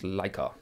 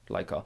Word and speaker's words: Leica: But I can explain the pronunciation, and it's Leica. Leica. It's like the dog in space.